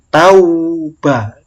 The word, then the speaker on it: tauba: Tauba, bacanya au ya, bukan au. Kalau ada yang baca tau, salah. Kadang-kadang sering ini anak-anak itu bacanya au, yang benar au.